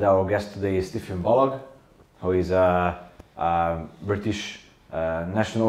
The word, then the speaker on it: Balogh: Balogh. I always have to say Balogh, hard G, like Kellogg, because it comes across often like an Irish name or a Scottish name.